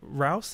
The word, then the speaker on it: Reuss: Yeah, it's Roos if you're in the UK, it's Royce if you're in Germany, so either one is fine.